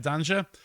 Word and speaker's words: Dender: go in um against dungeon danger apparently that's how you say it danger here in the belgian